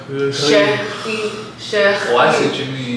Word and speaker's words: chéri: Like there's an R under the R. Chéri.